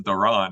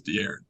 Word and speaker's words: De'Aaron: says Stern says Duran. He keeps saying it, and it's hilarious. It's Yeah, yeah. and no, but his name is De'Aaron. That is how it's said.